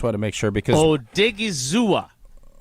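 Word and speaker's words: Odighizuwa: him he said uh if how do we pronounce his name again I just want to make sure because o dig is zua oh dig e e zo thanks to Hunter vaugh for the pronunciation um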